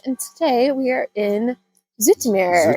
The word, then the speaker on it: Zoetermeer: today we are in Zoetermeer. Zoetermeer? Zoetermeer. I think she's saying it right and I'm saying it wrong. Because I've always said Zoetermeer, but I think it's Zoetermeer.